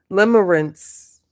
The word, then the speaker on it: limerence: Let me go to how to pronounce this word before the pronunciation police come back for me. Good night, it came in. Limerence.